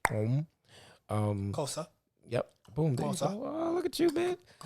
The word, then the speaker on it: gqom: But there's another sound that prior to Amapiano, which is, it's spelled GQOM, but it's pronounced om.